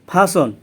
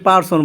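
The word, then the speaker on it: person: ফাসন অর্থ ব্যক্তি, এটাকে আমরা আগে পার্সন বলতাম কিন্তু এটা ফাসন অর্থ ব্যক্তি, মাঝখানে আরের উচ্চারণ হবে না।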